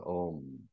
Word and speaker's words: Om: makes it o and m is when you close your mouth so om only one syllable when you chant you can make out om one sy so that